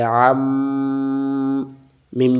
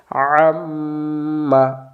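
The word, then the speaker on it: عَمَّا: এবার উচ্চারণ, আইন জবর আ, আ মিলবে মিমের সাথে, আম, মিম জবর মা, কি হইল? আম্মা।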